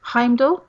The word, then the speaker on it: Heimdall: Heimdall, I think is how you pronounce it.